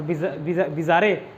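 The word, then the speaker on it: bizarre: Weird मतलब, और बिज़ारे, बिज़ारे कर लेना, हालांकि उसका प्रोनाउंसिएशन होता है बिज़ार, बट बिज़ारे, बिचारे, बिज़ारे से बिचारे, अजीब, ठीक है।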